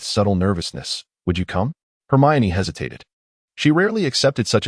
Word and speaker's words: Hermione: It's Heriane. She slowed her speech, clearly demonstrating her. Crumb attempted to articulate the name. It seemed as though he was adding a vague inoring sound after Hermione. No, it's Hermione. She corrected, clearly annunciating once more.